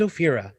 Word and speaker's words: Ophira: Next up is Ophira. Am I saying? I keep feeling like I'm saying it wrong. Fear. Just say fear in your mind. Fear in the middle.